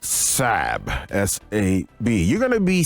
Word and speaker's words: Sab: He likes to be called Sab, S-A-B.